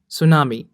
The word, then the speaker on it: tsunami: सुनामी की सही spelling में टी पहले आएगा, तो सही स्पेलिंग रहती है TSUNAMI सुनामी। अगली स्पेलिंग है डैम्स।